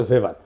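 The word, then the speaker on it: Weber: না আরেকজন দার্শনিক আছে ম্যাক্স ভেভার এটা ওয়েভার বলে অনেকে এটা উচ্চারণ আসলে ভেভার তার একটা লেজিটিমেসি এবং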